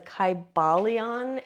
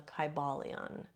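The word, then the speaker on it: Kybalion: So, um I can't really like type it right now, but it's the Kybalon. And uh it's a very old book. Like I said, it's from 1908. It's spelled K Y B A L I O N.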